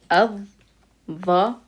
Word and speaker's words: الظلام: So it would be pronounced with a shadda. That means we would not hear the lam. And it would be الظلام.